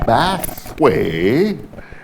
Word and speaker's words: Bathway: He told me anytime I heard anyone pronouncing Bathway, I should correct them and let them know it's Bat, not Bath, Bathway.